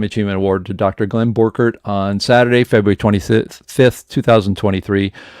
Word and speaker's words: Borchardt: So that's how we say it in the Midwest. If you go to Germany, they say Borchardt. Yeah, Borchardt.